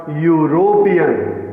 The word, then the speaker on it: European: यूरोपियन, अब देखिए यहाँ ई साइलेंट है, यूरोपियन में EUROPEAN, लेकिन यहाँ ई साइलेंट रहेगा और इसको पढ़ा जाएगा यूरोपियन।